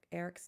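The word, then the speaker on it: Arek: and bear are twins and indigo and Eric Eric's daughter and Eric is spelled a r e k um their daughter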